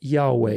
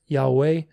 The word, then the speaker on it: Yahweh: If we write it in English, it would be Y-A-O-H-W-E-H, silent H's, Yahweh. Accent is on the last syllable.